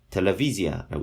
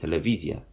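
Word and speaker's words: טלוויזיה: 텔레비지아라고 있습니다. 텔레비지아. 자, 텔레비지아. 텔레비전을 말하는 겁니다. 텔레비지아라고 있는데 요 V 발음입니다.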